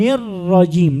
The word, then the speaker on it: الرجيم: ثم من الشيطان الرجيم، لابد من بيان الشدة في حرف الراء.